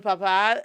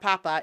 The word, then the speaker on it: papá: Even el papá, not papa, el papá de mi hijo, my son's father, like I communicate more with some of the people on his block too.